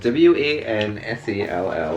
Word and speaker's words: Wansel: W-A-N-S-E-L-L. That's how I always have to spell it to everyone.